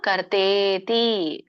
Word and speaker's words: ಕರ್ತೇತಿ: ಹೇಳಿ ಕರ್ಮಚೋದನ ಕರಣಂ ಕರ್ಮ ಕರ್ತೇತಿ ಕರ್ತೇತಿ ಕರ್ತಾ ಇತಿ ಅಂತ ಕರೀತಾರೆ ಅದಕ್ಕೆ ಕೂಡಿ ಕರ್ತೇತಿ ದೀರ್ಘ ಇದೆ ಹಗೆತ ಕೆ ಕರ್ತೇತಿ ತ್ರಿವಿಧ ತ್ರಿವಿಧ